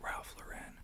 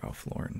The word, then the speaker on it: Ralph Lauren: them Polo Ralph Lauren you ever hear people pronounce it Ralph laen I did for a while yeah it's just kind of the pretentious people we listen to him actually say his own name he says Ralph Lauren so I was like okay I'm gonna I'm